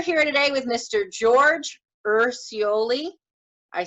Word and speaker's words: Urciuoli: George Urciuoli.